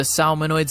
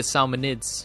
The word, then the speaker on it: salmonids: resistance and feed efficiency the salmonoids are not a group of robots they're actually a salmonids pronunciation so this includes salmon